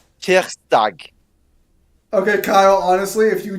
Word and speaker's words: tirsdag: Tuesday is tirsdag.